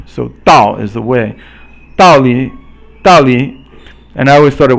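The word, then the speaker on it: 道理: then 三声, but it's actually pronounced 四声 and then 轻声.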